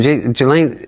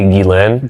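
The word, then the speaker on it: Ghislaine: I mean, just think about this is when Jelane Jlane Jlane, how do I how do you pronounce that? It's technically Gilain.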